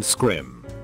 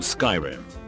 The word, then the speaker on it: Skyrim: he laughed condescendingly and said no I mean scrim thinking he was just mistaken I was like oh no it's called Skyrim no it's not it's pronounced script at that